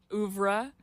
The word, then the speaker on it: oeuvre: I love the whole oeuvre.